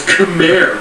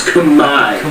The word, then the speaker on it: Khmer: All this time you thought it was Khmer, right? No, it's Khmer. The R is silent.